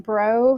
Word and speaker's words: Brough: sure thanks Dana um so my name is pronounced bro full name is um I didn't